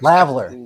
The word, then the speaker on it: lavalier: Yeah, I know when you spell it, it's lavalier, yeah. But but I I'm sure know that's not how you say it.